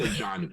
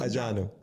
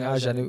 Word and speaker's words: Adjanu: But it's Adjanu. It's pronounced Adjanu. Oh, okay. Okay, I was saying Adjanu. Okay, so it's Adjanu. Adjanu. That's cool. The way you're saying it is how people say it in French.